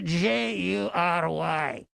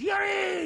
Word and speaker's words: Jury: his name is spell jur Y A lot of people pronounce it jury you know as if you're on a jury but it's actually yui